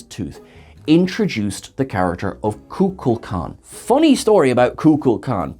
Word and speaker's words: Kukulkan: with other cast members spock correctly says kukulkan because leonard nimoy had the correct script in front of him william shatner pronounced it kukla khan because there was no one there to supervise him so quite frankly they're both kind of correct and also wrong so either kukulkan or